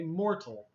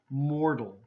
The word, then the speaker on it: mortal: Now, the T is there, and the book is telling us to have a T sound, okay? Mortal. But actually, in Canada and America, most people will have this T as a D sound, okay? Mortal. Mortal, okay? Just like the word water, okay?